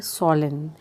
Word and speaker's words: swollen: Word है वो है सॉलन। उसमें SWOLLEN, W साइलेंट होता है, हम इसे सॉलन पढ़ते हैं, यानी कि सूजन आना।